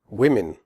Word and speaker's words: women: a different sound than the O in the singular form woman. In women, the O is pronounced I, as in the word win. The E in women is also pronounced like an I.